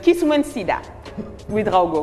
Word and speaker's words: Kiswensida Ouedraogo: Monsieur Ezekiel, non, il m'a dit de bien prononcer, c'est Kiswensida Ouedraogo.